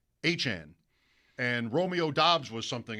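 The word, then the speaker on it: Achane: and they tell you, "No, it's not Achain, it's Achan."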